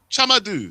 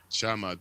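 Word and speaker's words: Tchamadeu: Chamadou. then, Okay. yeah. And the last name starting with a C H sound, followed by ma- dew. Chamadou.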